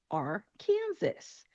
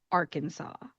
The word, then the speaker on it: Arkansas: Looking at the spelling, you would think that it would be Arkansas. We already know how to pronounce Kansas, so that makes sense. We're just going to call it Arkansas. Unfortunately, it is not that easy. Instead of being Arkansas, this state is called Arkansas.